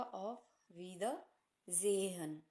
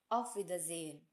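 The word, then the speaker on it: Auf Wiedersehen: में भी पढ़ा था उसको सा ना कह के ज कहा जाता है जहाज वाला ज इसलिए यहां पर हो जाएगा ऑफ वि द जेहन ऑफ वि जेन फिर मिलेंगे यह कहने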